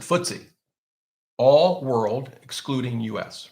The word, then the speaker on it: FTSE: exchange i think but if you want to be cool you pronounce it footsie all world excluding us